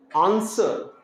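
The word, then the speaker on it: answer: hall hall में यहां डब्लू आपको खामोश है आंसर आंसर में यहां डब् साइलेंट ये एस डब जहां भी देखिएगा एड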